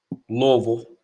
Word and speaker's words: Louisville: andre is in louisville louisville that's how they say it louisville so you just